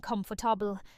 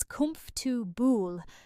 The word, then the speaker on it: comfortable: Many learners try to pronounce every single syllable, saying comfortable. This makes the word sound stiff and unnatural. In British English, the middle syllables are often reduced, making the word shorter and easier to say. The most common pronunciation is comfortable, with the second and third syllables blending together very quickly. Repeat slowly with me. Comfortable, comfortable. Notice how the word has 3 clear beats, not 4.